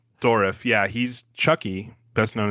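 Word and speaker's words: Dourif: Brad Dorf, I think is how you say his last name. Dorif. Yeah, Dorif.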